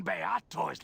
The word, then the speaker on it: Beator: After all my warnings and swearings, still you bring Beator's legions to my door! Promise breaker, betrayer, So this is how it feels. It's Beator. That's how you pronounce that word.